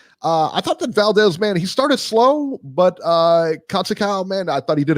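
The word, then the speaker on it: Conceição: Is it Conceicao? It's Conceicao.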